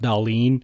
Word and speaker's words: Dahlin: I think last year it was lose hard for Bedard, lose for Hughes, fall in for Dahlin, even though it's pronounced Dahlin.